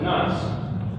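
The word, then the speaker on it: נס: The word is pronounced nas.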